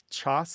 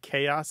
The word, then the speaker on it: chaos: Yeah, there's some suggestion that it's people say choss instead of chaos as a joking pronunciation because that hard CH is a K sound is just not native to English.